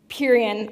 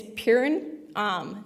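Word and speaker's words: Pierron: this case name wrong, I say it Purian, I think it's Purin, which is the correct way to pronounce it.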